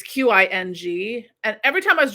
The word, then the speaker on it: Qing: I was always drawn to, um in, like, museum stuff from, there's the, it's, I don't know if it's pronounced King or Qing dynasty, in China. It's Qing, and every time I